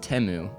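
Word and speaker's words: Temu: start off we all came to the realization that timu is pronounced teu they sold out for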